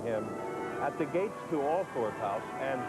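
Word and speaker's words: Althorp: at the gates to all fourth house and here in this village they do pronounce it awful there are a couple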